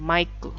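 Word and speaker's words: マイク: Sekali lagi konsonan mati tidak ada, jadi ditambahkan vokal U. Mike. Orang Jepang ingin menyebutkan Mike, tapi munculnya seperti ini, Maiku.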